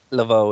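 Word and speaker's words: Laveaux: Roxy Lavo is it is that how it's pronounced Lavo yeah yeah Roxy Lavo pops in and fires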